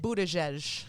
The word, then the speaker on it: Buttigieg: How do you pronounce it? Buttigieg.